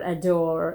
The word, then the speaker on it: J'adore: So this is from Dior, and the perfume's name is J'adore, or whatever you want to call it, J'adore, or adore if J is silent.